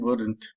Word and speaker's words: wouldn't: And this is w, u, the, n, t. And the d and n are together. So that should be pronounced as wouldn't and not wouldn't. There is no sound of O or L in either of these words. O and L are silent.